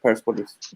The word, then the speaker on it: Persepolis: Persepolis retained the P, right? That's the Iranian pronunciation, Persepolis.